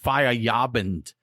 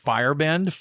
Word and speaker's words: Feierabend: So from Six Bridges, I have found out, I believe this is pronounced Feierabend instead of, it looks like Fairbend, but that is their Marzen.